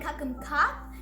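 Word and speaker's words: ขอบคุณครับ: Kakum ka is a girl, and kakum kap is a man. Ka is for girls and women, and kap is for boys and men. Kakum kap and kakum ka.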